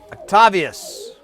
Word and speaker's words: Octavius: Yes, that's how you say it. Octavius, well, that's how I'm saying it. I just want to make sure I didn't throw an extra syllable that was never in there.